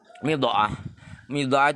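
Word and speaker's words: ميضأة: Midha'ah itu bacanya mim dibaca kasrah, kemudian pakai hamzah setelah dot yang bertitik.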